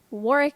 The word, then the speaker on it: Warwick: be in a group Warwick Warwick I think is how you pronounce it that's how he he pronounced it Warwick is the name that